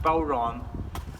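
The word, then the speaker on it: bodhrán: b o d h r a n but pronounced Boron and the boron run is usually made from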